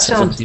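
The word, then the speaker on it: seventy: In 70, a lot of people pronounce it almost like there's the letter D in that word. 7D, 70. But it's actually written with a T.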